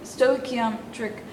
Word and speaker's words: stoichiometric: is called a um stoichiometric stoic am trick equation okay that's the first thing in the study of stoichiometry its pronunciation okay stoichiometric equation say that stoichiometric